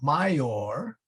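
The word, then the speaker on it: maior: perfectly good Latin word Mayor meaning bigger um major okay is what we say in English but mayor or mayor actually you can spell it either way in Latin that becomes a a y sound my or Jesus okay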